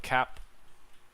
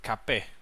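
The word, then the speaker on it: Kape: We might see Davison versus Manel Cap. I think it's actually Cape, the correct pronunciation.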